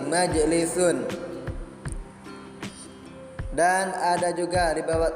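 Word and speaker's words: مَجْلِسٌ: Dan ada juga majlisun, itu jim, jimnya mati, majlisun.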